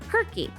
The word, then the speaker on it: Circe: See, there's a witch in Greek mythology that we call Circe in English but in Greek her name can also be pronounced ker-ki.